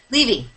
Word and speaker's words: Levy: Do you pronounce it Levy or Levy? Levy.